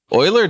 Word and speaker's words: Euler: the mathematician black grain is there silent e at the beginning of euler town it's not silent it makes an oi sound with the u wait how do you spell this e-u-l-e-r just like the mathematician that's why we're going